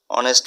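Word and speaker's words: honest: And tries to lead dash অনেস্ট life. লাইফটা noun থাকার কারণে একটা অ্যাডজেক্টিভ, একটা আর্টিকেল দিতে হবে। আর অনেস্ট এই প্রোনাউন্সিয়েশন ভাওয়েলের মতো, তাই আমরা এর আগে অ্যান দিব।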